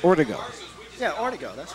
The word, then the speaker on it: Ortego: The yeah, I want to make sure because there's an Artigo, but I'm from the Pacific Northwest and it's pronounced Artigo. Yeah, Ortego, that's right.